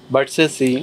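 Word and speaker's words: Versace: বি ভি ই আর এস এ সি ই ভার্সেসি ভার্সেসি and last one ইজ পি আর এ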